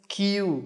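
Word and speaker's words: queue: اخي زي الكلمه دي كلمه كيو ليه معناه طابور نطقها زي اول حرف بس يعني كان الحروف الثانيه دي كلها ملهاش لازمه طب حاطينها وبتقرفونا بها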